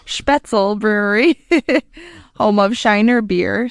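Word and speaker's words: Spoetzl: I think you pronounce it Spetzel. Spetzel Brewery, home of Shiner beer.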